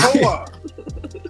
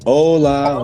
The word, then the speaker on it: Hola: It's Hola. It's Hola Jovito. That's what you say. There's an H on it. My people. It's an H on there. I know, but it's Spanish, so they don't pronounce it.